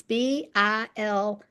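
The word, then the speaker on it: Bilyeu: It's Bilyeyu, but he and his wife just sold their company for $1 billion.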